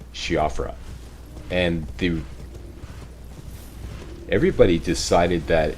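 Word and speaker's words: Siofra: rather than shifra apparently in traditional Irish it's pronounced shifra but I asked everybody how do you pronounce this and everybody said it's she offers so I went with shiafra but um I've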